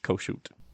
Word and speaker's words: Kossuth: He's sometimes also uh Lewis Koshoot.